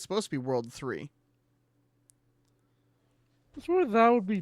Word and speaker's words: WWW: I love how they actually, like, give you the, this is how you're supposed to pronounce it. Because back then, people did, like, they thought it was, like, the WWW. And when the anime came out and they were referring to it as World 3, everybody was like, oh, the anime is wrong.